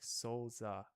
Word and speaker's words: Souza: So, and then you said first part is great, last part was almost there. It's like Souza.